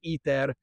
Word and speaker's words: ITER: the south of France, ITER, or as we would say it phonetically, ETER, the industrial application of